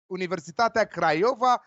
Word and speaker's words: Universitatea Craiova: Michael will talk about Universitatea Craiova. This is how it's pronounced, so be careful what you're saying.